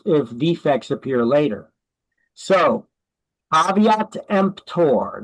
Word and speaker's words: caveat emptor: So caveat emptor, that's how you pronounce that. It's not pronounced caveat emptor the way that it's spelled. It's pronounced caveat emptor.